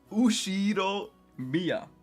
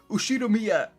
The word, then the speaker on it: Ushiromiya: Ushiro Miya. Giriberto. Yeah, caught. That's a fairly plausible Japanese pronunciation so far.